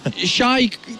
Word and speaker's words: XY: Now on stage though, we do have XY or Shy. What's the correct pronunciation? Shy. All right, so Shy.